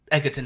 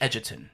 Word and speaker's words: Edgerton: I go a day you people pronounce my name Edgerton it's actually Edgerton I'm like okay I